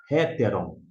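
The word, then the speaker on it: ἕτερον: Aqui no caso é hetteron, a pronúncia termina com omiclon ni. Héteron, esse aqui tá se referindo a outro.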